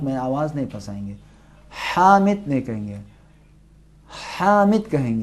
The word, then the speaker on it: حامد: ہا تلفظ کریں. ہا. محمد، محمد، محمود، محمود، حامد. حامد، ہادی.